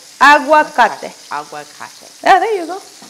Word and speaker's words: aguacate: So it's like you saying agua, you know, water, agua, and then you add cate. Aguacate.